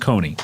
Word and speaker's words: Kconee: So Coney, but it's just pronounced Coney.